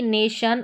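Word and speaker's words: nation: टी आई ओ एन शन। जैसे कि नेशन और एक्शन। ठीक है? नेशन और एक्शन लास्ट में टी आई ओ एन है। इसको शन करके प्रोनाउंस किया।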